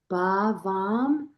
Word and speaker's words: Bhavam: It's, Bhavam. I write it. Yeah. And phonetically, it's B-A-H, Bhavam.